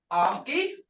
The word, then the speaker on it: ofki: Long vowels, ofki, harmony grits, as in English father, ofki.